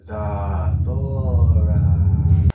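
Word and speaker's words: Zathura: Zathora. That's how they say it in the movie.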